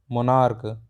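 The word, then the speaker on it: monarch: लिए यह कहा था जब लास्ट में सीच हो और हम इसका जो इसका उच्चारण सीच का उच्चारण हम च ना करके क के रूप में करें की के रूप में करें जैसे हम यह पढ़े थे हमने मैच है मैच में क्या है मैच में सीच को च पढ़ रहे हैं लेकिन अगर इसका उच्चारण क के रूप में करें जैसे स्टमक मोनार्क तब क्या है तब इसका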